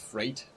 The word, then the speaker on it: freight: from Syracuse to Buffalo it's pronounced Freight thank you rate like eight actually we might we